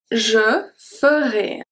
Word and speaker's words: je ferai: Je ferai. Je ferai. Je mangerai. Je mangerai. Je serai. Je serai. So here the same thing as with J, J apostrophe AI, sometimes you can find it pronounced E.